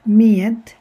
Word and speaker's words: med: So when you write, vi skriver hela ordet med. We write the whole word med, but when we say, we simply say med. So we don't pronounce the D there.